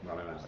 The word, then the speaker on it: Rami Malek: Rami Malek, is that how you say it, Rami Malek? Yeah, Rami Malek.